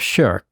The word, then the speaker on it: shirk: So I should say something about what is meant by shirk. Shirk is an Arabic word which sounds like shirking and spelled the same way as shirking your responsibilities, right?